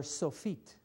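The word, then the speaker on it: סופית: called ending letter or sofit. And it would be pronounced like this. Sofit.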